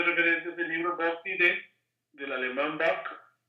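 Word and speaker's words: Diday: es el libro Bock Didet, del alemán Bock. Y Didet, quien fue, se escribe Didet, pero se pronuncia Didet en francés, mi profesor de doctorado,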